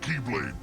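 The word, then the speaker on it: χ-blade: yeah means the x-blade it's just pronounced like keyblade even though it's just one key blade oh the series is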